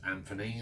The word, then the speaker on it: Anthony: So I'm going to obviously notice that I'm pronouncing it as Anthony, and this is how Anthony's mother, Sarah Sack, this is how she said that it was pronounced.